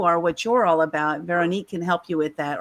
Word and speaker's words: Veronique: complimentary strategy session with go to please pronounce it for me veronique.